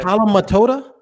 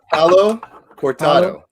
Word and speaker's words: Palo Cortado: Palo Matoda? How do you say it again? What is it? What is it, Speedy? Palo Cortado.